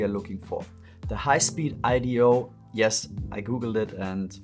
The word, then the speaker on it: HispeedIDO: is what we are looking for for the highspeed Ido yes I Googled it and found out how to pronounce it correctly N64 HDMI mod kit it